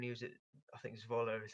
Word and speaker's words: Zwolle: But I watched him a little bit when he was at, I think Zwolle is how you say it.